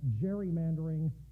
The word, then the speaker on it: gerrymandering: come to be called gerrymandering pronounced with a soft g so when gary was